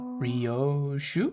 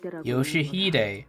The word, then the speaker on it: Yoshihide: Ryoshu? 아니, No, that's not how you read those letters. Yoshihide. That's how you say it.